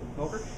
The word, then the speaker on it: Volker: Volker. Did I pronounce that right? Yes. Volker.